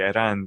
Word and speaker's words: Aaron: to like oh yeah that's actually not how you say my name you know it's actually iran but you know nobody can say it so i just go by aaron like how do you